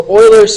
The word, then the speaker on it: Euler: we're gonna get into Euler's formula yes that is pronounced boilers and then we'll talk